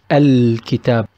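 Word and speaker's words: الكتاب: Another example, Ki is one of the alphabets of Al Al-Qamariya, the lunar Al, so we will pronounce it Al-Kitab, Al-Kitab. On the other hand, we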